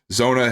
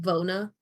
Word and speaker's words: Zona: You saying my name at the end threw me off because it didn't sound like Zona. But what did it sound like? Like Vona.